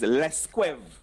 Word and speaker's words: Las Cuevas: And Las Cuevas is Lesquev. Lesquev. Lesquev. Lesquev. You say in Patois, "Mweka ale Lance Lesquev." It means I'm going to Las Cuevas Bay. So Lance Lesquev is Las Cuevas Lesquev.